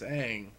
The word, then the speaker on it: Aang: even that good wait a minute no it's Aang it is I'm making fun of the movie